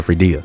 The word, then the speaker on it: Fadia: Fadia is the okay, so Fadia is how you say her name. I'm calling her Fredia.